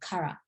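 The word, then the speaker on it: から: But in Japanese, you don't need to do that. Just say Kara, Kara kimashita.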